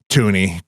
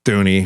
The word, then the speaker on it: Thuney: Tuney, Thuney, however you say his name. I think that H is silent.